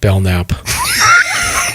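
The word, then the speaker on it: Belknap: of the belnap Range Trail yeah the B bellnap stomp that's how you pronounce it bellnap thanks yeah um they call it the Mount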